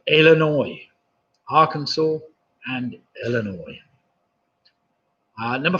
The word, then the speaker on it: Illinois: Number 4, the 2 US states that have a name ending with a silent letter. I'll give you half for each. It's Arkansas and Illinois.